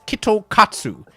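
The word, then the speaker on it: キットカット: In Japanese, you can pronounce Kit Kat as Kitokatsu.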